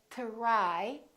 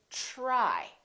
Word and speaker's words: try: by the consonant are let me explain for example t are why we don't say to rye it becomes like a chip sound we say try try so the T are together make this sound almost like a CH are almost like but it's a softer one it's to try try so let's look